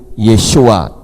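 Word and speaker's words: Yeshua: huruf wau di tengah-tengahnya Yod he dibaca yah tapi begitu belakangnya dikasih wa jadi yahu Sinin Ayin dibaca Sya jadi yahusya nah Oleh karena itu saya tunjukkan kepada saudara pelafalan yang tepat tentang nama juru selamat kita yaitu yesua disamping Dia memiliki kepala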